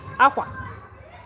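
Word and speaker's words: akwa: And that's when I'm pronouncing it also, you say aqua, aqua is in the center. Aqua, aqua. It's like one vowel sound. Boom, boom, aqua. When I say aqua, aqua, I'm going up.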